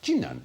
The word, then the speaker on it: Jinan: The city of Qinan, spelt Qinan, but pronounced Jinan in China, is about the same size as